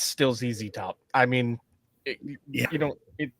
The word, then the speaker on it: ZZ Top: I mean, you know, it it's not Zed top. That's just Ah, no, no. They're they're from Texas. You pronounce it the way a Texan would pronounce it.